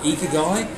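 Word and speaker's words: ikigai: it's one with coffee somewhere else is called ether guy it's spelt I ki GA I and it's Japanese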